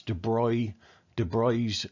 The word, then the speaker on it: de Broglie: Now, this guy here, Louis de Broglie, spelt de Broglie, but it's pronounced de Broglie, Prince Louis de Broglie.